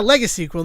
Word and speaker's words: legacyquel: I I mean yeah legacquel that's how pronounce it. It's the word legacy with a qu u l at the end.